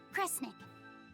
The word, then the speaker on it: Kresnik: Sound it out. Cre, Snira, Cre, Snick. Kresnik. Kresnik feels right somehow.